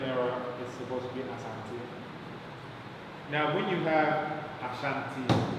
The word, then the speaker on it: Asante: Here you see that the spelling error is supposed to be Asante. Now when you have Ashanti, this is coming from a British mispronunciation of a Ghana mispronunciation.